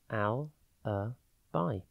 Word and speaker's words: alibi: time today's word is Alibi it is pronounced Al a by and spelled a l i b i think Ali and then by with an i an alibi is an